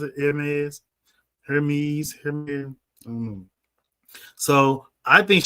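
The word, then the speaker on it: Hermès: How do you pronounce it? Hermes.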